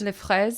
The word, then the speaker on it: fraises: Fraz, right? Fraz? Les fraises.